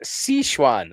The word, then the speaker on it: Sichuan: Uh, William Shakespey, it's pronounced Sichuan. Oh, yeah. Sichuan.